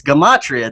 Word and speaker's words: Gematria: So it's Gematria. Even the pronunciations like on YouTube and say Gematria.